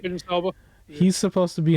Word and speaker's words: Idris Elba: I think Idris Elba, is that his name? Did I say it right? Idris Elba.